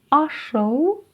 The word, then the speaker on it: ашыл: Если в русском языке буква «ы» — это 100% звучания, то в казахском языке это 10% звучания.